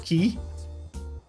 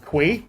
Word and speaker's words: quay: to no end that they can't pronounce the word key they pronounce it kui and that's both these voice actors pronounce it Quay not once not twice but three times in the same cutscene and it's infuriating we